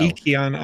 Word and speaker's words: Ykion: Yikion Art is what they said to me. Or yeah, they said that's how you pronounce it yesterday.